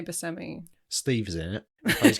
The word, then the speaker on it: Buscemi: Steve Buscemi, Buscemi. I say Buscemi.